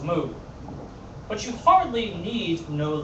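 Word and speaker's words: 木: Strokes like this hello in Mandarin it is pronounced moo but you hardly need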